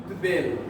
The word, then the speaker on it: উদ্বেল: উদ এই উপসর্গের পরে যদি আসে তাহলে বয়ের অর্থ বয়ের মতোই হবে। বয়ের অর্থ বয়ের মতোই। এটা হবে উদ্বেল।